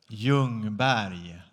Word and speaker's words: Ljungberg: Ljungberg. That's the way to pronounce Freddie Ljungberg.